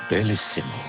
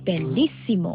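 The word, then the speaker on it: বেলিসিমো: উচ্চারণ দারুণ পুরো পারফরমেন্সটাই বেলিমো থ্যাংক ইউ স্যার কিন্তু স্যার উচ্চারণটা হয়নি বলেন বেলিসিম কে আমাকে উচ্চারণ শেখাও তুমি জানো আমি কতদিন ধরে গান গাইছি শব্দটা ঠিকমতো উচ্চারণ করেন বেলসিম বেলিসিম রিচ ইন্টারন্যাশনাল কোয়ালিটি আইসক্রিম।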